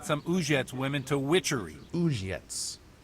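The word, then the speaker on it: Uzhitz: Uzhets. That's how you pronounce it.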